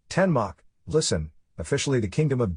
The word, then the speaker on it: Danmark: Denmark Danish Denmark pronounced ten Mach listen officially the Kingdom